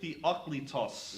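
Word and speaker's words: Theoklitos: going to talk about michael the oclitos yes that's the way you pronounce that name not michael theo what is with that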